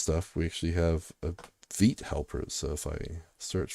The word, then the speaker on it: Vite: Because I would have said Vite, Vite yeah, it's or Vitey. yeah. Uh, People pronounce it different ways, but Evan Yu pronounces it Vite, I believe.